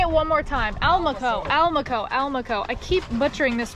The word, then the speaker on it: Almaco: How do you say it? Almacoa? Almaco. Almaco. And like we caught Almaco, the gas station, but with an L.